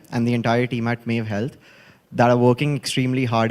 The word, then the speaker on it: Mave Health: CEO, Mave Health या Mave Health, मुझे थोड़ा pronunciation बता दीजिए. Mave Health, right? Okay, Mave Health it is.